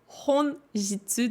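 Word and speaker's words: 本日: autre mot en japonais qui se prononce donc honjitsu donc avec une autre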